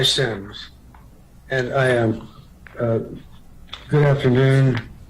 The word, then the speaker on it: Sims: Next, we will hear from Semis, and I apologize if I pronounced your last name incorrectly. Yes, thank you. And it's Sims.